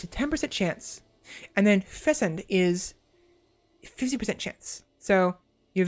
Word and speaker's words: fecund: So yeah, you pronounce the C as a hard C.